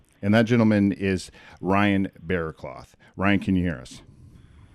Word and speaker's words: Berrecloth: Like, how do you pronounce your last name? You got it right. It's Berrecloth. Oh. Berrecloth.